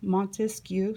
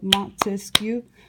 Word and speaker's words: Montesquieu: going to do is think of three syllables Montesquieu so montesquieu three syllables three branches of government Montesquieu everybody Montesquieu Montesquieu missed you so we'll write it